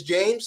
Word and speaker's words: Jaymez: man as far as how it's pronounced and it is James so it is it is James it gets butchered a lot but it's James no no yeah dude